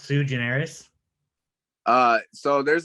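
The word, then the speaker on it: sui generis: then just took it and it's it's it's pronounced sue generous uh so there's like a there's a few different pronunciations but i just like swede generis yeah squeegeneris it's nice yeah no it's just it's it's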